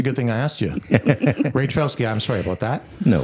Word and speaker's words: Raytrowski: We've got TJ and Alicia Raytrowski. Am I pronouncing that? Raytrowski. Raytrowski. See, that's a good thing I asked you. Raytrowski.